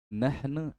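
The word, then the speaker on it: نحن: Perhatikan itu kalau bentuk mulut tidak bagus. Nahnu. Nah ne. Sekarang begitu. Nah. Ne. Na. Jadi beda nahnu. Nah, kalau nahnu ne nahnu tapi kan kurang diperhatikan seperti itu ya.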